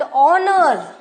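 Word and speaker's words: honour: तो एक्सेप्शन क्या है the first letter of the word ऑनर right is a consonant but इ अन pronounce H इज an pronouns and begins with a वल sound there for वी यूज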